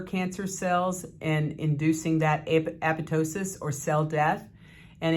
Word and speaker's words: apoptosis: in these particular cells it's called apoptosis or apoptosis depending on who you listen to but the correct pronunciation is apoptosis and it also protects